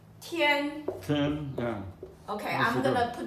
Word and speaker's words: 天: So, basically, here we're gonna write down important thing called fu, jing, ru, tian. 10. Yeah. Okay, That's I'm good. gonna put down the pronunciation.